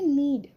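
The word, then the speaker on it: knead: तो गूथने के लिए हम यूज़ करते हैं नीड। नीड यहां पर के साइलेंट।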